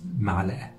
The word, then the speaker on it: معلقة: Spoon in Egyptian Arabic is معلقة, معلقة. Notice the pronunciation of the عين. مع-ل-أ-أ-أ. This is the قاف that we transfer it into أ in Egyptian dialect.